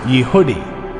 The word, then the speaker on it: Jehudi: also called Judahites or Jehudi, pronounced Yehudi.